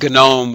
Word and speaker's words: GNOME: I'll mention those here one is gnome with a hard G the gnu Network object model environment and gnu stands for gnu's not Unix so it's a play on words but basically everybody just calls it gnome now and then canonical